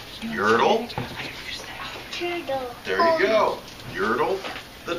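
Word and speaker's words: Yertle: never heard that but it rhymes with turtle doesn't it yurtle there you go yurtle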